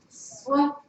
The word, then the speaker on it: swerve: It's swerve. That E is silent.